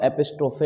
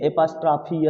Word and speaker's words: apostrophe: नाम होगा यूज ऑफ एपिस्ट्रोफे एस। क्या? यूज ऑफ एपिस्ट्रोफे एस। हम लोग उसको हिंदी में एपास्ट्राफी एस बोलते हैं, लेकिन शुद्ध प्रोनाउंसिएशन उसका एपिस्ट्रोफे एस होता है।